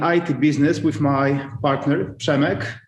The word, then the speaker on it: Przemek: Hard to pronounce name, Przemek. The funny thing is, when he used to work in United States during studying, everybody had difficulties with pronouncing his name, so he said his name is Jacob.